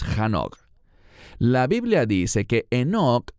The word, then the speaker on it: Hanoch: Eso se remonta al libro de Génesis, donde se nos habla de Hanoch o Enoch, según como pronuncie su nombre. En hebreo es Hanoch.